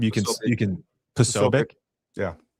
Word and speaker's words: Posobiec: How do you pronounce his last name? You can Posobiec.